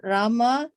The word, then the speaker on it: Rama: The word Hare pronounced Hare, Krishna pronounced Krishna, and Rama rhythms with drama are Sanskrit words.